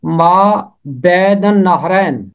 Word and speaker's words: ما بین النہرین: اس کا تلفظ کرنا آسان نہیں ہے، لیکن محنت کرنے سے تلفظ کرنا آسان ہو جاتا ہے. یہ ہے ما بین النہرین.